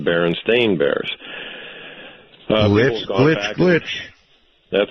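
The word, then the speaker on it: Berenstain: you Google it now everything is spelled s a i n and it's pronounced Baron stain Bears glit glitch glitch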